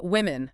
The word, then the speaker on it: women: Uh, women. Women. Yes, you nailed the vowel sound.